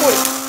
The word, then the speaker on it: Hulk: Ok, se pronuncia Hulk.